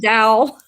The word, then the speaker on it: dowel: Sounds like towel, but it's a dowel.